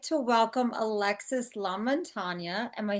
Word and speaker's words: Lamontagna: We'd like to welcome Alexis Lamontagna.